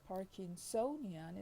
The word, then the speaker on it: Parkinsonian: second as you see so likewise parkinson is the stress on the first syllable you see but parkinsonian is stressed on the third we can generalize by